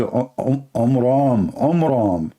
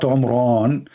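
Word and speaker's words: Amram: So it's the father of Moses, his name is Omram, not Omran. So he changed the last letter with letter N instead of M, which means it used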